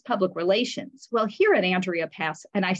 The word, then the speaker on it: Andrea: just so you know, my name is Andrea. And the person said, not Andrea. I said, no, Andrea. That's how I pronounce my name.